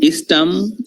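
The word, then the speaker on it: East Ham: এই যত হ্যাম দেখবো আমরা, এটার উচ্চারণ হচ্ছে আম উচ্চারণ করবে। এটার উচ্চারণ অ্যাকচুয়ালি ওরা করবে নিউ নিউ নিয়াম নিয়াম। তাহলে বলেন তো দেখি এটার উচ্চারণ কি, কিংবা এটার উচ্চারণ কি? ইস্টওয়াম ইস্টাম ওয়েস্টাম, ওয়েস্টওয়াম ইস্টাম ওয়েস্টাম, ওয়েস্টার্ন ফুটবল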